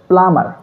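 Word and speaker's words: plumber: পানির মিস্ত্রীর ইংরেজি হচ্ছে প্লামার। প্লামার। এখানে বিটাকে সাইলেন্ট করা হবে।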